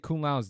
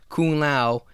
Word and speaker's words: Kung Lao: He could have prevented Kung Lao's death, just saying.